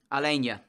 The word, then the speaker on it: Alania: is against Bournemouth and apparently we have been saying Alana's name wrong it's actually Alania so I apologise but